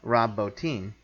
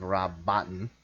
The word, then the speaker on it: Rob Bottin: him in a mocha Rob bow team mm-hmm or that's how you pronounce his name all my life I've said Rob Bottin mm-hm but uh who